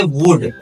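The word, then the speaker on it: would: हैं वुड की डब्लू ओ यू एल डी जिसको हम पढ़ते वुड एल साइलेंट रहेगा वुड नहीं पढ़ा जाएगा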